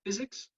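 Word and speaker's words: PyZX: Okay, so the simplifications we've implemented in an open source library called Physics, pronounced as physics without the H.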